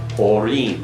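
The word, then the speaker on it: אורים: It would be Orim, right.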